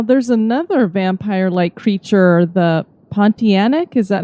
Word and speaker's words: Pontianak: Now, there's another vampire-like creature, the Pontianak. Is that how you say it? Yes. Pontianak.